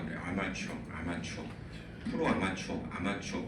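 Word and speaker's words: armature: 아마추어 아마추어 프로 아마추어 아마추어 그 아마추어고 스펠링은 조금 다르지만 발음은 거의 같죠 아마추어 아마추어 그래서 전기자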